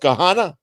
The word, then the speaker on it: Gahanna: I actually have an uncle that lives near you in I think it's pronounced Gahanna, there, which is a suburb of Columbus.